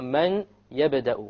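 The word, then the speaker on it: مَن يَبْدَأُ: So we pronounce this as man yabda'u, man yabda'u, man. Notice there is no man. It's immediately the mim associates with the ya, and you drop the noon sound.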